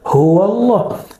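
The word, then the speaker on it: هو الله: Karena dia disambung maka dibaca huwallah.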